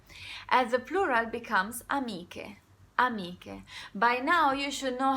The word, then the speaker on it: amiche: Amiche. By now you should know how to pronounce C-H-E, C-H-E together, and you should know by now that the pronunciation is strong. So it's not amice, it's amiche.